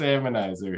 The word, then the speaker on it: Hamonizer: How do you say that? HAMONIZER? Yeah, it's HAMONIZER. It's a play on harmonizer.